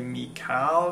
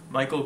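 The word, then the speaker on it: Mikal: Michael Aerfeld from OPath where I want to say Mal because of this way it's spelled. Um, it's actually M I K A L, but I think it's just Michael Cronin and his song Say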